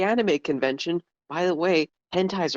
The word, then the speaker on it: hentai: when my dad was mispronouncing the word hentai and calling it henti which is still my